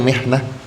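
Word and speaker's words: محنة: Apa itu mihnah? Jadi hati-hati dalam pengucapan, ya. Mihnah, pekerjaan. Mihnah, minhah. Minhah itu pemberian, beasiswa. Mihnah, pekerjaan. Mihnah, ujian. Ya.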